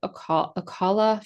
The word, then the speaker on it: Ocala: So, a little later than some of the bands we've talked about before in the quiet town of Aala, Florida. That's how you pronounce it.